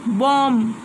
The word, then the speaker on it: bomb: Bomb. B is again. No, I'm not pronouncing.